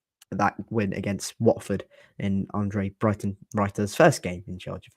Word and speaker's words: Andre Breitenreiter: How do you pronounce Huddersfield manager's name? Andre Breitenreiter.